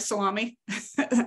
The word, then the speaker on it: SALAMI: I like the term salami. Is that, do you say it like salami for the acronym? Yep. Okay, yep.